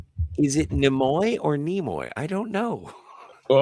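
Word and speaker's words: Nimoy: It's a long e by the way. Nemoy Nemoy.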